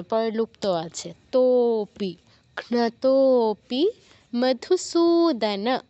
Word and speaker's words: মধুসূদন: আছে তপি ঘতপি মধুসূদন দন্তস নিচে দীর্ঘ উকার আছে তো এখানে দীর্ঘ উচ্চারণ করতে হবে সুদান বলা যাবে না মধুস সুদান বলা যাবে না কারণ ন এর নিচে কোন হসন্ত নেই সুদান পুরোটা বলতে হবে তাহলে কি হচ্ছে এত